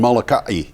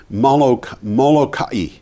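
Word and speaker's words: Molokai: stop that is glal stop that is in Malika the first island in Hawaii to completely kick the fossil fuel habit the 200,000 power customers on Malika M mokai I'm sorry I can't get away from that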